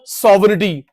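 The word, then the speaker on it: sovereignty: consumer सॉवरिटी, जी silent होता है, consumer सॉवरिटी, consumer king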